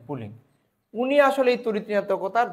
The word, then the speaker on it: Pauling: 1932 সালে বিজ্ঞানী পুলিং, আসলে আমরা বাংলায় লিখে আমি যদি একটু বলতে চাই, 1932 সালে বিজ্ঞানী পুলিং আসলে ইংরেজিতে এটা উচ্চারণটা ছিল PAULING, পুলিং।